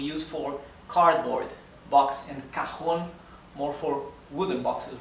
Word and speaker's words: cajón: So, it ends, so the accent is in the last syllable, right? So it is aguda. And it ends in letter N. So, it carries a tilde on the O, right?